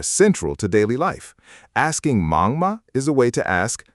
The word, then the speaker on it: 忙: The third word is mang, mang, one syllable. Mang means busy.